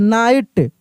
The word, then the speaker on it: knight: अब देखिए यहां पर भी के क्या है, साइलेंट है, नाइट, quickly, QUICKLY, quickly, quickly,